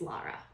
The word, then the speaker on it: Laura: my middle name is Lara and I pronounce Laura like somebody from freaking Boston does it's Laura l-a-u-r-a but I'll always say Lara because that's just my